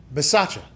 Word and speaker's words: Bisaccia: Bisaccia.